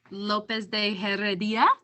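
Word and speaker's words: López de Heredia: better than I do, even if there wasn't a rolling R. Lopez de Heredia. Yes. See, there was, yes, there was something there, even if it wasn't a rolling R. Oh, the I, the accent on the I.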